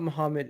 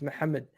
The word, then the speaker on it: Mohamed: Igal, it's not Mohammed, it's Mohammed.